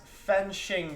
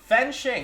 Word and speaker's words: Fen Shing: be up either way my name is pronounced fen shing by the way fen shing okay good thank you